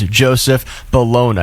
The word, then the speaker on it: Joseph Bologna: His name is Joseph Bologna. We couldn't really agree on how to pronounce it, so I asked Google, and they said it is Joseph Bologna.